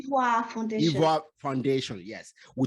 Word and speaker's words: Ivoire: How do you pronounce the name? Ivoire Foundation.